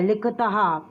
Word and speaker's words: लिखतः: इसमें विसर्ग लगता है, इसीलिए उसमें हा का उच्चारण होता है। लिखतः, पठतः, खादतः।